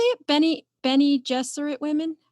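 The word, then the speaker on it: Bene Gesserit: by the how do you say it benny benny jesuit women how did you say that yeah benny jethro that's right benny jesuit yeah so that that's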